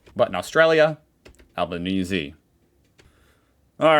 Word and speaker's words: Albanese: I always say it like I'm always confused now, but you guys have told me the correct way is Albanese. Even though I've heard other like official people say Albanese, but in Australia, Albanese.